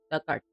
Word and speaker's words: Dugard: Pronunciation duck like the past tense of dig and art brings the hurt. Duck art giant rhubarb.